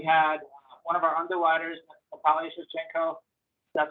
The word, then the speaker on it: Natalia Shevchenko: We had one of our underwriters, Natalia Shevchenko, that's how you say her name, by the way.